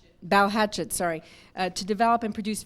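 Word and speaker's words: Balhetchet: cougar films with producer sophie uh balochi and pronounced bow hatchet sorry to develop and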